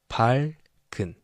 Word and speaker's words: 밝은: So it's written like this, 리을 and 기역 together as a final double complex consonant. But when it's pronounced, this 기역 is placed here, even though it is written like this, 밝은. So it's pronounced as 밝은.